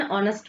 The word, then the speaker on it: honest: Here H is silent.